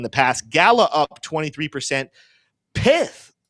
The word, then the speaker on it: Pyth: Is it Pith? Is it Pyth? This is a hot debatable topic. We're going to say Pith because I want to. It's whatever pronunciation gets more saliva on the person you're talking to. So Pith or Pyth.